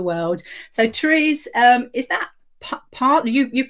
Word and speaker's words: Paarl: So Therese, is that Paarl? You pronounce it, is it Paarl in South Africa? Oh, yes. Paarl, wonderful.